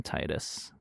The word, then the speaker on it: Titus: It's pronounced Tetus apparently, but I will call him I will still call him Titus cuz that is Titus just feels more correct in terms of his uh naming conventions and such.